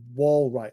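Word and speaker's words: Walright: have it in the armory well right yeah wall right while right w-a-l-r-i-g-h-t which is kind of this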